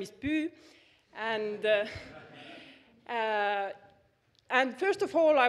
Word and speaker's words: Püü: I will just clear out the pronunciation. So my name is Püü, and first of all, I would really like